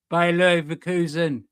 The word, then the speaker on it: Bayer Leverkusen: We move on from that, and we got Bayer Leverkusen.